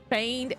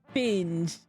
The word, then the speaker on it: feigned: Feigned. You got it. I don't like this word. N before G, not finged. Feigned. The G is silent.